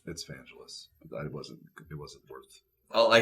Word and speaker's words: Vangelis: It's Vangelis. It wasn't worth. Well, I said I don't know how to pronounce it, so I was opening it up to the audience to correct me.